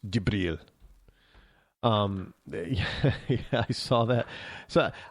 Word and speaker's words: Jibril: But Gabriel, the Fluffy, for some people who don't know him by his first name, Gabriel, Fluffy, or in the Middle East, his name is pronounced Jibril.